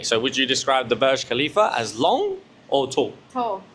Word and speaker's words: Burj Khalifa: It's not bougie. It ain't no bougie khalifa. I still I still pronounce wrong. It is the Burge Burge Burj Khalifa Burj Khalifa.